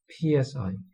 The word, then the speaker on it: psi: sign so this is a Greek letter is pronounced PSI s and it's basically just a function of